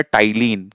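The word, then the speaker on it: ptyalin: तो इस salivary M amylase को हम कहते हैं बेटा टाइलीन। क्या कहते हैं? टाइलीन कहते हैं। पी टी वाई एल आई एन जिसमें पी साइलेंट होता है।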